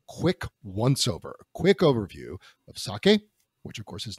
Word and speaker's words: sake: so sake as and it's pronounced sake not saki just so everybody knows